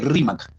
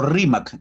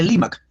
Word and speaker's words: Rímac: Algunas personas no pueden pronunciar muy bien la R, la cambian por la L, como los chinos, ¿no? En lugar de decir arroz, dicen alos. Igual había gente que no decía Rima, decía Limac.